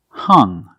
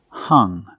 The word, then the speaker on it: hung: The past form of hang is hung, hung. The U makes a short sound like cup and up.